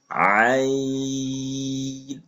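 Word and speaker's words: ع: পরিমাণ টেনে পড়তে হবে এবং একটু চাপ দিয়ে আইন হা পড়েছিলাম আর আইন এক জায়গায় মাখরাজ এটা হচ্ছে কন্ঠনালীর মধ্যখান হইতে তাহলে আপনারা আমার সাথে উচ্চারণ করুন আইন আইন খেয়াল রাখবেন হরফটা যেন নাকের ভিতর না যায়।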